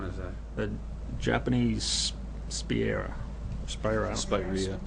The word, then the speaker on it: Spirea: Spirea. How do you say it? Spirea.